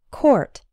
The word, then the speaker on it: court: Something similar happens with the word court. The O-U-R in court is pronounced or, same as in the words for, sport, and poor. Court.